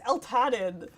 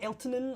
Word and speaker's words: Eltanin: names i'm allowed to my name is el tadden like you try and find that on a pen anywhere yeah it's true i love my name dearly but also people infamously mispronouncing it or just not knowing what it is i get elton a lot i keep a